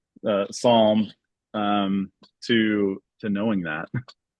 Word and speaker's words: Psalm: you go from for not knowing how to pronounce PS l m Psalm um to to knowing that not not that